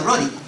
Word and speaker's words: ruddy: en español vigorosa, pero en inglés dice ruddy, como dice Rudy, pero en realidad se pronuncia ruddy.